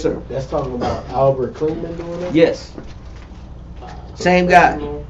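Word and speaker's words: Kligman: Klingham. K-L-I-G, man. Yeah, there's something else I want to get to in It's just a not second. ham, it's man. Man. It's Klingman. Spell it for him.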